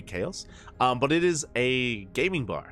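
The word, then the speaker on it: H4OS: believe it's uh pronounced chaos I believe it's meant to be chaos um but it is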